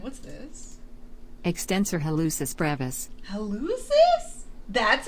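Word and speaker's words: hallucis: Helucis.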